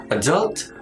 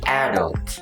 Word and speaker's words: adult: you say this word there are two options the first one is adult or adult both are correct but it depends on the accent in american accent should